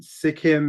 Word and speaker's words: Sikkim: So you hail from Sikkim. Is that the correct way to pronounce that?